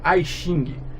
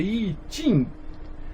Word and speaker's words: I Ching: E pelo amor de Deus, nunca Ai Xing. Tem gente que lê isso aqui em inglês, né? Ai Xing. Pelo amor de Deus, né? Isso é chinês. Então, I Xing. Na verdade é I Ching.